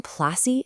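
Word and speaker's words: Plassey: The name Placi is actually just how the British pronounced Palashi.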